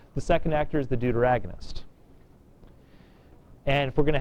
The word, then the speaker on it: deuteragonist: This is one of my favorite words to pronounce. It's a deuteragonist. See, I'm glad you laugh. Some classes look at me like I'm crazy. Just the word deuter is kind of fun. Deuteragonist. All right? Deuteragonist, the second actor.